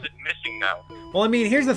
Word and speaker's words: MissingNo: I always called it Missing No. Because it's Missing Number, so Missing No. Yeah, okay. So I for some reason, I always pronounce it Missigno, even though I knew what it stood for. I put the emphasis on the wrong syllable.